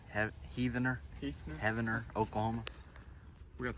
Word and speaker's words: Heavener: I think it's Heavener. Heavener, Oklahoma.